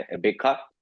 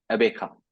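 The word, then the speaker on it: Gqeberha: कि पुराना नाम था, अब हो चुका है अबेखा। ऐसे ही अबे कुछ क्या? नाम है अब, अबेखा।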